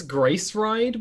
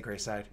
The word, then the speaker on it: Grace Ride: Also, it's Grace Ride, by the way. I always say Greyside.